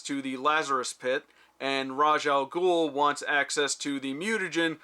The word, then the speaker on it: Ra's al Ghul: different Batman things and I've been told that Ra's al Ghul is the correct way to say it but for some reason they keep saying raesha al Ghul so I know which